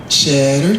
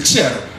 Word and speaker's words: Chetter: of it and so they did they say cheddar cheese cheddar cheese kissed the girls and made